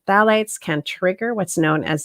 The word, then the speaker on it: phthalates: next one i'm going to talk about is phthalates it's spelled p h t h a l a